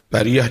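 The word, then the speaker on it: بريئة: harusnya nabiun Wal Bariah Bariah ciptaan Allah dari fi'il madhi baroah ya harusnya bariun Tapi bacanya Bariah tanpa Hamzah illa ahla Makkah kecuali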